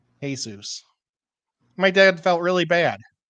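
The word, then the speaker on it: Jesús: Every day on the last day of boot camp, he said, "You know, my name is actually not pronounced Jesus. It's Jesus."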